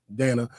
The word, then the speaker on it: Danna: to pronounce my name Dan like Hannah yeah true true I